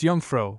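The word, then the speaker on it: jongvrouw: In studied or polite address, it would be Jonro pronounced Yungfro dot to think of it.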